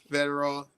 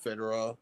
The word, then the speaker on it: Fedorov: Sergei Fedorov, not Fedorov.